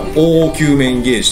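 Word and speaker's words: 凹球面ゲージ: 、うん、凹だから凹球面ゲージと読みますよ、こ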